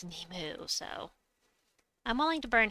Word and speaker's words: Nimue: I prefer to pronounce it Nimue, but primarily it's Nemu, so I'm willing to burn half of these.